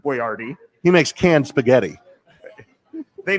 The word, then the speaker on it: Boyardee: touche so you know he pronounced it boyardy he makes canned spaghetti